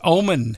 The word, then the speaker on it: Oman: Tuesday, March 21 at Oban Arena. Am I pronouncing that? It's Oman. Oman. Oman. All right, Oman.